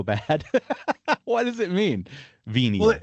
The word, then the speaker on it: venia: Venial. Well, it comes from the Latin venia. The V would be pronounced wa, which is forgiveness, indulgence, pardon, or favor.